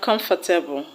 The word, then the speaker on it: comfortable: If you elongate this word by adding able to have comfortable. The word will not have 3 syllables, but the stress will not change its position. It will still be on the first syllable, come.